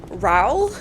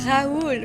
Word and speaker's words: Raoul: When they are French characters and they don't pronounce names properly. I think the worst one is in The Phantom of the Opera, the movie from 2005, I think, where Raoul, they say his name Raoul, and it pisses me off. The fuck is that, Raoul? It's Raoul, for fuck's sakes.